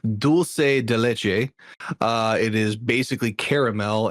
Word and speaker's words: dulce de leche: And it is in fact Spanish and it's pronounced dulce de leche.